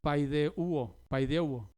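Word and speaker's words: παιδεύω: piadosamente la palabra enseñándonos es la palabra y diga paidéugo con acento en la uo está en participio presente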